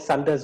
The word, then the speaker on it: Sunder: They used to call it Sunder's Wonder. That's how they pronounce my name.